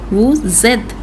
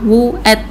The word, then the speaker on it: vous êtes: When merged it makes the z sound like nous avons, ils ont, vous êtes. You did it in the être verb vous êtes. It was not vous êtes, it is vous êtes.